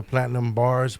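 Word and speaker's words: Platynumb Barz: My work, you can find me on YouTube on the Platinum Bars, but it's spelled PLATYNUMB, and Bars is spelled BARZ.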